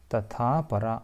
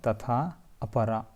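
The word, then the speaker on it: तथापरा: Ganga, Saraswati, Sindhu, Chandrabhaga, Tathapara or Tatha Apara, Tathapara, Yamunascha, Shatadruscha, Vitasteravati, Vitasta Iravati, Vitasteravati.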